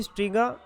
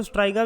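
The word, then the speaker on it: Striga: point number 4, question number 4, parasitic weed associated with mustard is, option A ओरोबेंचे, option B स्ट्रीगा जिसको स्ट्राइगा भी बोलते हैं, option C कसकट्टा, कुछ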